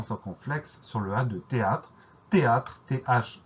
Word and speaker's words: théâtre: Donc il y a un H qui s'est glissé au cœur de cette première syllabe, un H qu'on n'entend pas évidemment, donc on y pense.